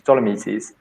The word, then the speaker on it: Dolomites: And she wanted to go for a walk in the Dolomites, is that how you pronounce it in English? Dolomites.